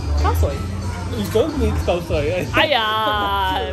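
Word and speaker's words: khao soi: I know Christian wants some koi sao. How do you say koi sao? Oh, sorry. Oh my god, sorry, my pronunciation's horrible. Koi soy? Koi soy? Khao soy?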